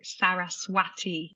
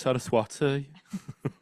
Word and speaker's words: Saraswati: another one is uh the goddess Sagi because it's got a w in it so it's sometime you hear it as like Saraswati yeah Birmingham it's sarwati yeah exactly um so it's